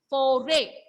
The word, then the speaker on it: forêt: In French, foray. Pronunciation of this word is foray.